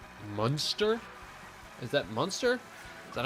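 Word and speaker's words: Munster: Monster is how you say it.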